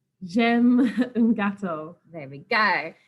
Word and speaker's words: j'aime: j'aime le fromage. J'aime. So that's how we need to pronounce that word, j'aime. Kind of like gem, Yeah. but j'aime. And then if we're looking